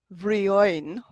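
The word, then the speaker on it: Bhriain: So you have, as examples, here you've got Brian, but when you say vrioin. The H softens the B.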